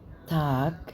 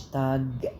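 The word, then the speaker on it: Tag: بصوا بقى اسمعوا كلمه تاك اللي هي الكلمه اللي في النص تاك تاك تاك ما بينطقوش الجي في الاخر جي بينطقوها كي تاك تاك اسمعوا كده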